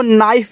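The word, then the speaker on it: knife: के एन आई एफ ई। तो देखो इसको नाइफ पढ़ते हैं। देखो यहां भी आपका के साइलेंट है। के बाद जस्ट आपका एन दे दिया है। तो के बाद जस्ट एन आए तो के को नहीं पढ़ना।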